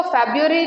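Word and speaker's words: February: फरवरी स्त्रीलिंग में नहीं आता, इसीलिए लिखवाया है जनवरी, ठीक है, क्योंकि उसको फेब्रुअरी कहा जाता है। ये तो जनवरी हो गया पूरा, उसको फेब्रुअरी कहा जाता है, जो करेक्ट प्रोनाउंसिएशन है उसका।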